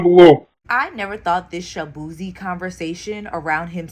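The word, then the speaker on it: Chibueze: I'm Nigerian American, so my last name is actually pronounced shabooozey. And just growing up in Virginia, everybody just did not know how to enunciate my name. So they was just like, Shabooozey.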